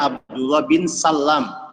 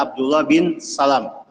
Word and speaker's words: Abdullah bin Salam: Sebagian kita keliru membaca nama ayahnya. Ada yang membacanya Abdullah bin Salam. Ini keliru. Yang betul adalah Abdullah bin Salam.